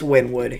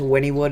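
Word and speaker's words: Wynnewood: How do you say it? Is it Winwood? It's Windwood. It's Winwood. Anybody that says Winnywood is on something.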